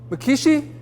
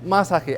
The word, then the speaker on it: Masaki: As the meat clerk yells out, "Order up for Makishi, Miyaki, Masago." Is it you? It's Masaki, actually.